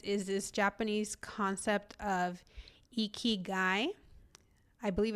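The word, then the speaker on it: ikigai: you can monetize is this Japanese concept of eeky guy.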